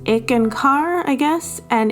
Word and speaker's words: Eckankar: so one comment was someone saying that I was pronouncing eeken car wrong and then I'm like I'm pronouncing it the same way that Harold S Harold pronounces it and then he's like no it's it's ick and car I guess and it's